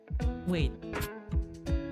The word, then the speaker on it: は: But there's a re this is actually like pronounced as wwah for this sentence. And there will be a reason. There's a reason why this is wa instead of ha.